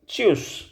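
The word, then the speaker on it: Tschüss: में चश चश देखो अगर आपको कोई कॉम्बिनेशन देखने को मिलता है ना एक साथ जैसे टी एस सी एच एक साथ देखने को मिलता है तो आप इसको च प्रोनाउंस करेंगे तो क्या बन गया ये चूस और उमलाउड का खास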